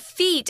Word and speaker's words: feat: task really is and feat I know it sounds like f ee t but it's not it's the same pronunciation as your feet that you walk with but here a feet